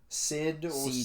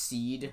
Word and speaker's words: Cyd: very bad the seed sid yeah the person that is cyd and is not pronounced seed like the [ __